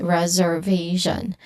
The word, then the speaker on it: reservation: distinct sounds for this reservation. Now the stress here it falls on the third syllable which is on v reservation. reservation.